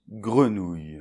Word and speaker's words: grenouille: Allez, on commence avec le G suivi du R. Attention, le R français, c’est ici, comme un gargarisme et suivi du E [ə], mettez bien la bouche arrondie, c’est plus simple.